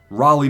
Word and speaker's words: Raleigh: Cal, you got to say North Carolina. North Carolina. Raleigh.